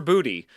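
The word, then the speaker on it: Boutte: they never do Drake May was looking for Booty. Going deep. And he finds him. Finds Booty Deep.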